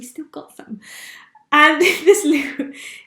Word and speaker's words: Lew: got them and this Lou it's spelt L e w you know Louis loo roll and it's 8 pounds